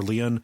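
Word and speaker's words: Lyon: uh we've seen uh lion or Leon what do what do we want to say I want to say lion but I say lion I've seen people pronounce it as Leon Leon on you know on YouTube or whatever but I I'll say lion what I'm gonna that's what I'm gonna say when I see those letters yeah same lion lion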